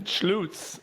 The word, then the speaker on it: Schlutz: do it I mean if you're from Germany or anywhere in that side of the region schlutz is how they say it so which is a little bit which makes more sense with the spelling yeah the Lu you